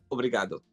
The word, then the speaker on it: obrigado: Obrigado.